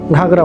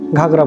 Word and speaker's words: ঘাগরা: তিনি এই স্থানটিকে গাগরা উচ্চারণ করতে না পেরে ঘাগরা বলে বসেন।